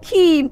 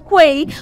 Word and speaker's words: quay: is not qu but key you know most of us had made this mistake of pronouncing this right as Quay but it is not Quay it is pronounced as key q a y is